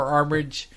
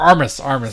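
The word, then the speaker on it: Armus: Armis definitely looks like a garbage bag, and we even get more Armage episodes later. Or Armis. Say it right.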